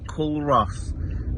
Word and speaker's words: Culross: We're off to Culross, which is spelt Culross, but it's Culross, and we're going to have a look what's about there under recommendation.